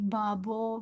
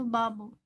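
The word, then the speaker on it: 바보: Babo yang artinya bodoh kita tidak membacanya pakai b seperti Babo banget gitu atau P papo bukan tapi di antara keduanya itu Babo artinya bodoh kalau kita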